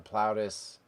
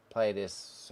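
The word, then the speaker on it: Plautus: uh Sophocles Aristotle Sophocles PL plaus platus however you want to pronounce it in Plato I'm pretty sure it's supposed to be plaus I think I was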